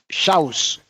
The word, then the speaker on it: Xaus: Pronunciation? Ruben Xaus.